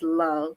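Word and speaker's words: Louve: so happy to be here and yes you pronounced it correctly it is love l o u v e beautiful so what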